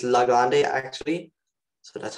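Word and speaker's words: Legendre: each prime and let's use this thing called legendaries i think i pronounced wrong but there's this formula called legendaries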